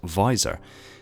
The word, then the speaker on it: VISOR: Visual Intelligence System Reconnaissance, abbreviated to and pronounced as VISOR, is a specialised data management system for MJOLNIR.